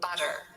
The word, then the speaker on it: butter: the word butter now if you you have more of a British English pronunciation like me you probably just say butter and pronounce the full T sound which is of course explosive however Americans very often will say butter so instead of a full T they just do a little flap T so it's just butter